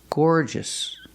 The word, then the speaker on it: gorgeous: and are also garous I cannot pronounce the word garous it's not gorgeous it's Gore gorgeous gorgeous as a matter of